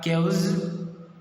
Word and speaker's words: chaos: Can pronounce as a chaos.